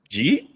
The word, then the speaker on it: jeet: Jeet. That's did you eat? Right. That's how they do it. Oh man. That, that's how they say it.